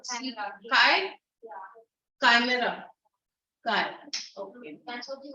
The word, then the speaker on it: chimera: yeah, it's spelled as C. Chimera. Kai? Yeah, Chimera.